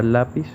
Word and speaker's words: lápiz: Y como puede demostrar la tilde en la palabra lápiz, el acento fonético recae en la sílaba la.